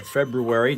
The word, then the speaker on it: February: I do the news and the traffic pronounced the R in February.